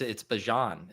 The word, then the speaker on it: Bijan: I listened to him say it like 9 times on that clip, and it's Bijan is how he said it.